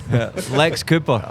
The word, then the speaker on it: LXAPR: Yeah, Luxaper. Lex Cooper.